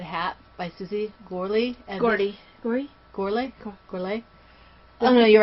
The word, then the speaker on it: Gorley: Gorley?